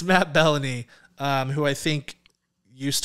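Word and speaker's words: Belloni: the puck but it's it's uh it's Matt baloney who or uh bellany it's spelled like you could say bologna it's Melanie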